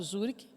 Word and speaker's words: Zurique: Em 1525, ele rompe, as missas são abolidas dentro do território de Zurique, aliás, Zurique, né, a pronúncia correta, Zurique.